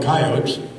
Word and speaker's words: coyote: Where I come from, We didn't pronounce that last E. We just called them coyotes.